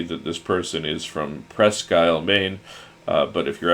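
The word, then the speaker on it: Presque Isle: this person is from Pres Skyle, Maine. Uh, but if you're actually from Maine, you know that Pres Skyle is spelled P R E S Q U space I S L E.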